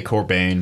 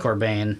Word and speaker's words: Corbijn: by Anton Corbijn Korb never been clearly pronounced yeah I'd say core pain but core bein that's probably that's probably correct I think they're I think it's sort of tomato tomahto but anyway music video directed